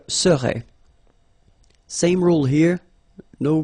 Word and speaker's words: serais: Remember, so AIS, but then you don't pronounce the final S. Je serais.